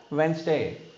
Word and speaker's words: Wednesday: D is a silent because N है D के बाद, रूल्स कहता है N नहीं तो G आया D के बाद, तो हम उसको साइलेंट बनाना चाहिए.